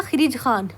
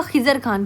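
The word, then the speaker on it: खिज्र खान: इसका नाम क्या था? खिज खान। सॉरी इसका नाम होगा खिजर खान।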